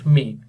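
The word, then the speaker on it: Mk: द एमk is pronounced मेक।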